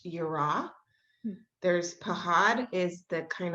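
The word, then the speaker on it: יראה: feels like the fear that in hebrew is pronounced yura there's pahad is the kind of fear where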